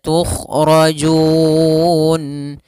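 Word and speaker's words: تخرجون: Wa kadzalika tukhrajun. Kemudian di sini tukhrajun ada kha yang ditebalkan, kemudian ora tebal, jun.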